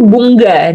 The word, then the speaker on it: Bunga: Mereka itu jadi baca NG itu Bunga, double G gitu. Tapi iya, jadi double G kan, kayak Tango gitu, Bunga gitu. Jadi bacanya lain.